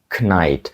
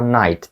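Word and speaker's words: knight: як K а не knnite Отже на початку є літера K Так я знаю але вона абсолютно глуха її ми не кажемо ми не кажемо knй Ми кажемо Night так само як і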